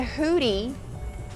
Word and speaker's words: hoodie: a hood hoodie hoodie the word is not pronounced hoodie it's pronounced hoodie hoodie use the short uh sound like book and look good uhuh look at the Good